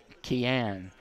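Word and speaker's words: Cian: number 23 has two goals here tonight that's key an he spells his name CIA n but it's pronounced key an first name that is tell Cruz over the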